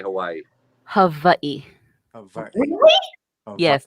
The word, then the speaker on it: Hawaii: So when we say Hawaii, how are you really supposed to say Hawaii? Hawaii. Really? Yes, the W's are V's because we don't have V's in the Hawaiian language.